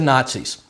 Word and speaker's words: Nazi: From national you get na. I am from socialist or zealist the way a German would pronounce it. You get the Z not C.